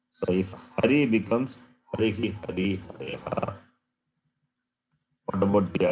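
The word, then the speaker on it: हरिः: So therefore you have to say, pronounce properly. Harihi, Hari, Harihi.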